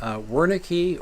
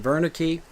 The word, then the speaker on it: Wernicke: region is named after the German physician wernicki or perhaps you prefer the pronunciation Verna key who described a series